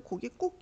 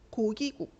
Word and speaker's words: 고깃국: 뒷말이 된 소리 나는 건 고기하고 국하고 만나잖아. 그럼 우리는 고기 꾹 이렇게 발음을 해요. 고기 꾹 이렇게 뒤에 맨 뒤에 글자가 꾹으로 발음이 나는데 원래 우리가 앞에 배웠던 된 소리 되기에 의하면은 이런 상황에서는 꾹으로 발음할 수 없어. 고기국 고기국 이렇게 발음해야지 원래는 맞단 말이야.